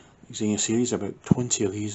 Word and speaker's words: Xena: moving on we have the xenia yes i know that's not how you say it but that's how i see it xena series about 20 of